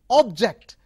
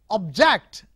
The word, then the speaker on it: object: So next, look at another example, object. Okay, object. So it is a verb, objecting something, and if you use the first syllable, stress with the first syllable is object.